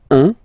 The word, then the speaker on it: un: Okay, then un. All right, so when you combine this u and n, you get the nasal sound un, un.